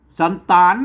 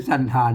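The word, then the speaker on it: สัณฐาน: สะกด อยู่ ตรง นี้ อ่าน ว่า สั่น สันตฐาน นะ ครับ สันตฐาน ไม่ ใช่ สันฐาน นะ ถ้า สันฐาน มัน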